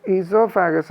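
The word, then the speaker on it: oesophagus: വന്നിട്ട് അത് ചവച്ചരക്കുന്ന food ഈസോഫാഗസ് അതായത് ഈസോഫാഗസ് എന്ന് പറഞ്ഞാൽ എന്താ ഈ കുടൽ എന്ന് പറയും ഇങ്ങനെ നീണ്ടു കിടക്കുന്ന ഈ ഭാഗം ഈ ഭാഗത്തിലൂടെ ആണ് നമുക്ക് എവിടെ എത്തിപ്പെടുന്ന പെടുന്നത് സ്റ്റോമക്കിൽ എത്തുന്നത് ഈസോഫാഗസിന് ഓ ക്ക് ഉച്ചാരണം ഇല്ല കേട്ടോ അങ്ങനെ എത്തിപ്പെടുന്ന ഭാഗം ഇതാണ്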